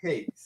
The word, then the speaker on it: Higgs: Am I saying that right? Higgs. Higgs, yes, you said it right.